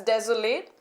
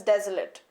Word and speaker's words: desolate: When it is used as a verb, it is pronounced as desolate. When it is used as adjective, it is pronounced as desolate.